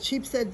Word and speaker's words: Sheepshead: in a place called Sheepshead Bay in Brooklyn, New York. Wait, say that again? Sheep's Head. It's one word, but it's spelled Sheepshead, like a sheep's head.